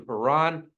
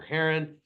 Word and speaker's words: Haran: ER goes up to heran or Heron depending on how you want to pronounce that um and so we